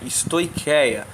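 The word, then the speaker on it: στοιχεία: i a no entanto o ch se pronuncia como um q né stoia essa expressão ela é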